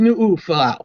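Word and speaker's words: Nuufolau: Samo Nala Nala no I think it's newal n you have to pronounce both uoa better known to the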